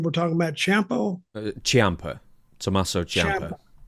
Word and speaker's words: Ciampa: Ciampa. Tommaso Ciampa. Ciampa. It looks like it's spelled C-I-A-M, I think. I Start of it. Yeah. But it's got an H sound there, like Ciampa.